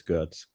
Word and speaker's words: Görtz: If you want Görtz? to pronounce it German, it's Görtz.